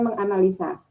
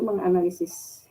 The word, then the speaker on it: menganalisis: Tetapi pengucapannya menganalisa, yang betul itu menganalisis gitu.